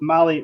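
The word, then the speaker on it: MAHLE: All right, well, let's jump into the Motley Motorsports section here.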